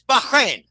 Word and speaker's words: Bahrain: time in Bahrain and you know we don't pronounce it right it's Bahrain Bahrain B Bahrain okay he said Bahrain is